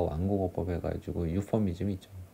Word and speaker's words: euphemism: 아무튼 그래서 여기서 보시면은 이제 유서네이저가 있고 안락사하고, 그 다음에 여기 맨 밑에 있는 거 완곡어법 해가지고 유퍼미즘이 있죠. 강세가 유퍼미즘이에요. 앞에 있는 거 앞에.